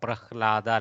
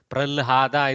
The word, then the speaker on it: Prahlada: So we in South we actually put Lakara after Haka, Prahlada like that. Pralhada is also used in region. Maharashtra uses Pralhada, South uses Prahlada.